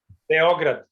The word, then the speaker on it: Beograd: How do you guys pronounce it in Serbia? What would be the accent? Pardon? Beograd.